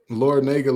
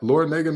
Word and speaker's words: Larrañaga: Is that Larrañaga not Miami's head coach? Like Jim Larrañaga? Oh, Larrañaga, the nerve of me for pronouncing the A incorrectly.